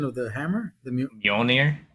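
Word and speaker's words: Mjölnir: well, I would say, because of the historical, value of that, the what's the pronunciation of the hammer? Mjolnir. Munir.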